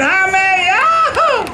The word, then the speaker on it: Jaime: My name's Jaime, sir. Jaime? Jaime. How you spell it?